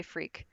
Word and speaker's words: freq: stands for procedure and i do say freak so yeah it's spelled differently than usual but that works for me yeah so frequencies proc